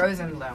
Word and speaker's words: Rosenblum: Effie Rosenblum.